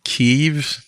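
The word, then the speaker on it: Kyiv: this is just mean did I pronounce that right keev yeah kear kear so this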